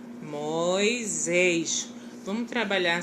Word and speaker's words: Moisés: Moisés, mais uma vez a explicação de novo. Do S no meio de duas vogais, ele tem som de Z. Moisés.